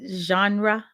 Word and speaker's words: genre: music different type of saying the word right genre I said it right I usually have to